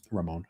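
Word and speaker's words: Rhamon: Uh, I'm sorry if I mispronounc. Yeah, Ramon.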